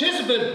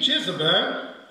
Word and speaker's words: Jezebel: uncomfortable with my pronunciations because i'm influenced by french in french we say isabelle so i'm a bit influenced by that pronunciation but i'll try to say jesus bear if that sounds strange